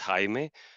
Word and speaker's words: Jaime: my name is actually in Spanish it's Hae but uh many people call me Jamie my last name is